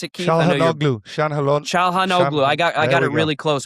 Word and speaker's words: Çalhanoğlu: Hakan, I'm going to butcher his last name, Chandanoglu. Is that how you pronounce it, Keith? Çalhanoğlu.